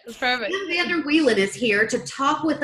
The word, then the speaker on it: Vander Wielen: Is that how you pronounce it? That's right. That's perfect. Sam Vander Wielen is here to talk with us all about